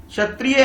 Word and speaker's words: क्षत्रिय: क्या बोल रहे हैं छतरी बोलते हैं क्षत्रिय है लेकिन आप उसको